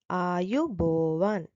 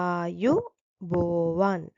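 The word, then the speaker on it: ආයුබෝවන්: letట్ල learn greೀంస్ firstස් one are you bෝන් ආ are you bෝන් are you bෝන් it means may you live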